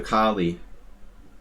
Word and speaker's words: Colle: that makes complete sense kohli system the colle they call it the kali like like lassie speaking of kali i